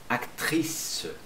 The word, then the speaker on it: actrice: Aqui você não vai pronunciar o E no final. Acteur. Acteur. Acteur. Você fala esse aqui mesmo. Actrice.